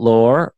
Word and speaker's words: Laor: How do you say your How do you pronounce your last name? Lao. Lao. But, that's that's with an Israeli accent. You So, you don't do the r.